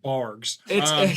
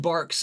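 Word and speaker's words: Barq's: as long as it's not that God forsaken bargs it's pronounced barks and when it comes up here I'm GNA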